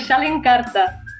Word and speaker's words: šalinkarta: We call it "šalinkarta".